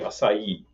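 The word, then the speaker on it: açaí: Actual pronunciation of the juice and the liqueur would be acai. Acai. I believe that's how it's said. There's an accent on the I. I said acai for years, and actually nobody understands that in Brazil.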